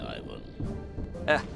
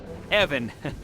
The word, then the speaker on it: Ivan: You might have saved my life today, so ask away, Ivan. Evan. It's pronounced Evan, with a short guttural.